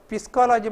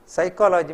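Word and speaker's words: psychology: F ना लेफ्टिनेंट म्हणून सायकोलॉजी पळय आनी एक गम्मत ते P आसा ते पिस्कोलॉजी म्हणून आमी वाज्जिनाची सायकोलॉजी म्हणटा P सायलेंट म्हणून आमकां सांगून दिला ब्रिड्ज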